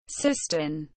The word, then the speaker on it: Siston: Siston, pronounced sizeton, anciently Siston, Sistone, Syton, Sytone and Systun